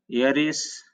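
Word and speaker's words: heiress: ये होगा ऑनर, ये होगा एयर, ये होगा ऑनोरेरियम, ये होगा एयरिस, एयर का ही स्त्रीलिंग है, इसका फेमिनिन जेंडर है।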